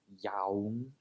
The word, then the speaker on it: young: a young relationship not young yeah imagine it the spelling is why ung-yong young and no sound at the end jealousy can be vicious